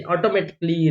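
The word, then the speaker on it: automatically: तो ये जो डबल एल वाई आ रहा है, इसके पहले ए आया है, इसलिए हमने इस ए का प्रोनाउंस नहीं किया। जैसे ऑटोमेटिकली, रोमांटिकली, बेसिकली, थिंकली, ये सब चीजें।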